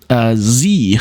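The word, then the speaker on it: Sie: So, Z, for example, the word Z, spelled S-I-E, but it's pronounced with an English Z sound.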